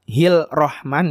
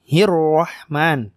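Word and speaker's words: الرحمن: lam syamsiah Bismillahirrohmanirrohim hirohman ketika kita tahu ini alif lam syamsiah jadi tidak dibaca heel rohman ya tapi hirohman pengucapan roknya pun harus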